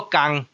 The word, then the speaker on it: 天: 工一声，所以即个字伫古早就是读作工。